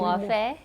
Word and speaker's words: Muofhe: And I think it's most apt in our first one of this series is that we have Moefe, am I pronouncing it correctly? Moefe, yeah.